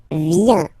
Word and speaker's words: vient: Il, elle vient. Final T not pronounced.